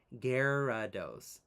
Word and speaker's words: Gyarados: It's pronounced phonetically as Gerados.